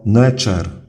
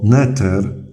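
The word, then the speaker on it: nṯr: Ten hieroglif to fonogram, który wymawiamy jako Necher i oznacza on Boga. Po samym obrazku ciężko nam byłoby odgadnąć to znaczenie. Chociaż niektóre atrybuty bóstwa chorągiew może symbolizować, to jest przywództwo, autorytet, świętość, ochronę. Ciekawa jest też sama fonetyczna wymowa tego hieroglifu, bo jak spolszczymy ją do Neter lub podciągniemy pod wymowę angielską jako nature, to od razu to słowo kojarzy się ze słowem natura.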